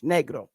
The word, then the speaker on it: negro: If you ask negro, negro, that's how you say it in Spanish, negro.